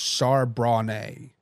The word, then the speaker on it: Charbonnet: And Carson says the running back's name is pronounced Charbonnet. Like the, isn't a Charbonnet like a wine?